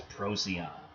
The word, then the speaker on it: Procyon: Go above Canis Major, you get the little dog, Canis Minor, and the bright star in that constellation is Procyon. Pronounced weird, and even on these things you can get pronunciation.